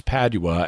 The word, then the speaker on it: Padua: italy in the interview bill pronounces padua a couple of ways but it's padua as in saint anthony of padua that we're talking about